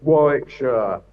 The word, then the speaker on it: Warwickshire: I would say Warwickshire, but is Warwickshire? What is it? Where are you from? Yeah, it's Warwickshire. Yeah, that's good enough. Warwickshire.